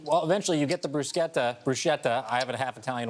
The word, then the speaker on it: bruschetta: And then you just top it with your bruscetta or bruschetta. Respect. Thank you. And I think I've been saying it wrong my whole entire life.